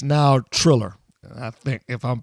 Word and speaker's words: Triller: It's now Triller, I think, if I'm pronouncing that right. It's not Thriller, Triller.